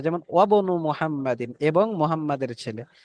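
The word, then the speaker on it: وابن: যেমন ওয়াবনু মুহাম্মাদিন, এবং মুহাম্মাদের ছেলে, তো ওয়াও শুরুতে আসার কারণে হামজার উচ্চারণ আর হলো না।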